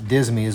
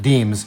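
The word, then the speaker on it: disme: And then the the bit about the half dismys, which you don't say, or I'm sorry, half deems. It's spelled dism. It's pronounced deem.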